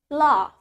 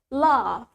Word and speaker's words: laugh: Well, in British accent, we have longer A. So we say laugh. Laugh. Let's try it with me. Laugh. While in American accent, sedangkan di aksen Amerika, we pronounce it as laugh.